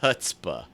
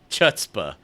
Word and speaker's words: chutzpah: you what it showed it showed hutzpah chutzpah it did oh yeah I set it right the first time are they correct myself to say it wrong you're not you're not